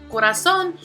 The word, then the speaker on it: corazón: Corazón, we see here that there are 3 syllables, which are corazón. Again, the stress falls on that last syllable, and because of this, we call it una palabra aguda.